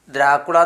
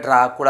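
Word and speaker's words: Dracula: ദ്രാക്കുള എന്ന് വായിക്കാൻ പറ്റൂല്ല. അല്ലേ? ഇവിടെ ഡ്രാക്കുള എന്ന് തന്നെ വായിക്കണം. ഇവിടെ ദ്രാ എന്ന് എഴുതി ഇവിടെ ഡ്രാ എന്നായി.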